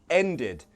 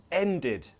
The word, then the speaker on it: ended: Ended. Id. Ended.